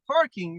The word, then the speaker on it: parking: Like honestly, we have barking and parking at the same time. We Arabs always say bark, people, Mm, instead of like yeah, parking and barking.